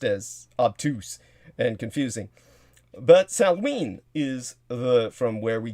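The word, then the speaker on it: Samhain: would think it's pronounced saman but it's not it's pronounced salween because anything in the celtic language is pronounced completely differently from how it's spelled and counterintuitively by all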